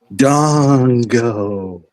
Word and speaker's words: Fandango: You mispronounced it. It's Dongo.